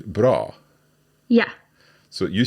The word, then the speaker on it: bra: So this is a shorter sound, so "vacker" as opposed to "bra".